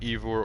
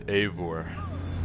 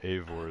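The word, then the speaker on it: Eivor: is odin so it's not ivor or ivor it's avor it's e-i-v-o-r i keep pronouncing it different ways but avor is correct evil are you bewitched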